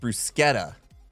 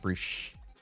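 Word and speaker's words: bruschetta: something I don't know it's pronounced brusketta okay not brush brusketta we're learning stuff what was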